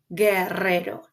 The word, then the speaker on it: guerrero: So notice that here, in order to get the G sound, I need the help or the assistance of the letra U, guerrero. So the U is silent. It's here just to help you to get the correct sound.